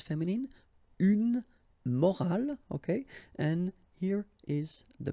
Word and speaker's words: morale: but in that case you've got this at the end, which is silent, so you don't pronounce it, so clearly it is